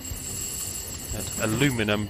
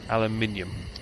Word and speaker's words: aluminium: Aluminum just drives me absolutely nuts. Aluminium is the way it's pronounced.